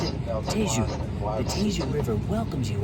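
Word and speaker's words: Tejo: Um, also on the river in the background, this is a spelled T H A S, but they pronounce it Tu.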